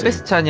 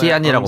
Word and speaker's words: Sebastian: 세베스찬이 아니라 Perhaps somewhere 세베스티안이라고 발음하네요.